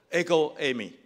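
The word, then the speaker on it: ἐγώ εἰμι: 约希腊文原文读作 ego eimi，其实它的意思是我是是我跟我是一样吗？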